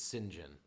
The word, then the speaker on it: St John: brother-in-law's middle name is saint john which the the british pronunciation is sinjin uh so we know